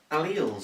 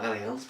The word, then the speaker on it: alleles: this position as well alleles or alleles pay on your preferred pronunciation yeah it's different forms